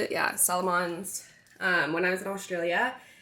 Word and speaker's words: Salomon: Yeah, Salomons.